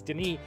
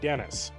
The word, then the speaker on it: Denis: That is how you pronounce it. It is Denis, not Dennis.